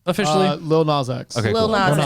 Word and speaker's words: Lil Nas X: pronounce his name officially? Lil Nas X.